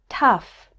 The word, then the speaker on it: tough: also pronounced this way o-u-g-h can be pronounced like uf in stuff as in these words enough tough rough there's one word where